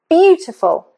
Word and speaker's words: beautiful: So, beautiful, beautiful. If you're not sure where the stress is, try and put it on another syllable. You should instinctively hear that it doesn't sound quite right. So, beautiful, the first, fine. But let's try it on another syllable. Beautiful, beautiful, beautiful, beautiful. Just sounds strange.